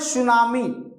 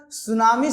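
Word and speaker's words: tsunami: और ध्यान रखना भैया, सुनामी शब्द जो है जापानी वर्ड है, ठीक है। सुनामी जो है जापानी वर्ड है और इसमें टी साइलेंट होता है।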